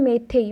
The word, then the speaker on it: Meitei: letter तारी अनुसार ही आपको कहूँ मलयालम देन मेथई मेथई अर्थात आप प्रोनाउंसिएशन भी अलग कहींपारे कि MEITEI हूँ तार